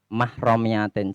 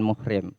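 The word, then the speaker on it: محرمية: bikibarin lama amah romiyatin, bacanya mahromiyatin, jangan muhrim. Jadi kalau istilah perkara yang membatalkan wundu atau istilah kata-kata tidak mahramnya itu yang benar tidak mahramnya. Jangan tidak muhrimnya, ini salah.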